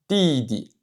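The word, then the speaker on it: 弟弟: Le deuxième caractère est prononcé avec le ton neutre.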